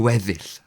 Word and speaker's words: gweddill: Gweddill. That one I always struggle with. Gweddill. The rest. 2 syllables. Gwedd. It's just trying to say the at the end of it.